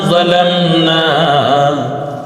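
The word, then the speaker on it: ظلمنا: এরপরে জালামনা, জ লা শুধু ম, ন কি খাড়া আকার না, জালামনা রাব্বানা যালামনা, এই যে আমরা পড়ি সেটা এরকম যালামনা।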